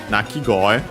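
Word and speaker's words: 鳴き声: So yeah, Nakigoe. The accent is on the go, so yeah, like koe.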